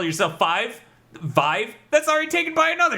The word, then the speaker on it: Viiv: VIIV, still pronounced the same, Vive.